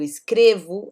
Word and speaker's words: escrevo: Observem que aqui eu digo escrevo, né? Só reforçando essa questão da pronúncia, né? Então eu trabalho, eu escrevo, é um som de U no final. E aqui ele escreve, você escreve, né? Com um som de I já no final.